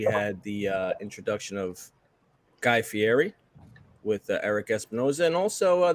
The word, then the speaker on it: Fieri: of the last episodes apparently it's Fieri it's not Fieri uh as everyone knows